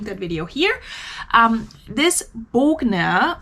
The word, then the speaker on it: Bogner: video here um this bogner or as americans would say bagner which is not how you pronounce it but that's fine bogna turtleneck sweater it was